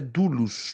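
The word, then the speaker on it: δοῦλος: mesmas letras do nosso alfabeto latim mas a pronúncia é dulus dulos então a palavra grega dulus é a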